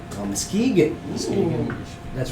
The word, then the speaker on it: Muskegon: No, Muskegon. Oh, Muskegon.